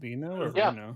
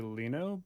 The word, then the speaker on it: Reno: I know him as it's I think it's technically Leno but in Japanese they can't they don't pronounce L's like that I guess right Reno yeah so yeah it's it's probably like yeah Reno or Reno or something